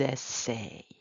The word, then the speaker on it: essayent: Ils essayent. We're not pronouncing that ENT.